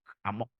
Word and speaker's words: amok: Bacanya mesti emak, amok. Amok itu khas.